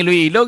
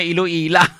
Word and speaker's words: Iloilo: Pati pag-pronounce ang Iloilo, ginimo yan ang Iloila.